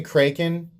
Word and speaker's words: Kraken: When I say Kraken, I know that it's pronounced Kraken.